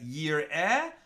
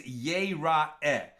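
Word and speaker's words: יראה: Yir'eh versus Yera'eh. Both of them are Yud Resh Aleph He, right? And you could pronounce that as Yir'eh or Yera'eh.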